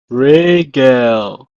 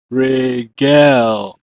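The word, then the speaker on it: רֶגֶל: Regel. Regel.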